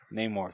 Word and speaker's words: Namor: Namor, thank you. Shows Shuri his vibranium-rich underwater kingdom of Talokan? Is that how you pronounce it?